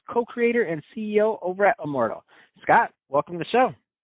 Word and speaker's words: IMMORDL: for healthy beverage uh it is pronounced Immortal as you phonetically say it so it's not uh we never say it's I'm a mortal and I have fun